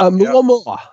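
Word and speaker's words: ʻOumuamua: Oumuamua. Yeah. That's very well pronounced.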